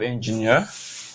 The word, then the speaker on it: engineer: So we have engineer. So e e r.